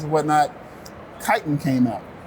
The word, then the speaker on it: Kytin: And as we're exploring names and whatnot, Kytin came out. So the phonetic spelling of Kytin is spelled Chitin, which is an exoskeleton of anthropods and insects.